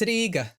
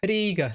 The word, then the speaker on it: Riga: It's not Riga, it's Riga. The I is like E, Riga.